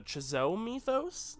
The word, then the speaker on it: Chzo Mythos: They're called the, and I might butcher the pronunciation here, the Chzo Mythos, C-H-Z-O.